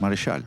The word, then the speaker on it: Marechal: Pero, bueno, yo le digo Marechal, pero es francés, Marechal.